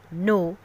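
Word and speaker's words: know: कुछ एग्जांपल्स हैं knob, no, and knife. These are letters that you can see but don't say. These are silent letters.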